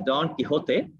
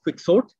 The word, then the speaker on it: Don Quixote: of this novel uh i've been pronouncing it as don quijote but when we write the spelling in english is slightly different it's q-u-i-x-o-t-e and we all would have heard it as quick sort and we talk about